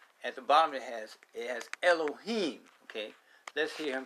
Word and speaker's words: Elohim: And we know that this word is pronounced Allah Hayam.